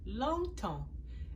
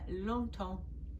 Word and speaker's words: longtemps: Longtemps. It's kind of a nasal. You don't say the G, it's just nasal. Longtemps, a long time.